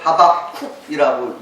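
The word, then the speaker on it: חֲבַקּוּק: 이 하박국은 히브리어로 하박쿡이라고 읽습니다.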